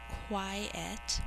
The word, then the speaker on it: quiet: we're really careful to say quiet with two syllables the word it is often mistaken with in spelling is quite so you can see that only has one syllable most basketball players